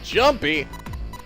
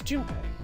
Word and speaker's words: Junpei: Wait, Mountain is the Jumpy. Oh, I'm sorry. I'm talking about him. I just called him Jumpy. His name is Junpei.